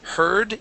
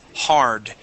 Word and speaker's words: hard: And this is instead of heard, it is hard. Road hard. Road heard. Okay. And it's more of a r sound. Um uh the word you're pronouncing when you say heard. Okay. I heard you say. Okay. H E A R D. We want to make an R sound.